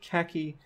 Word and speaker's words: khaki: So in the word khaki, the syllable ka has primary stress while ki does not.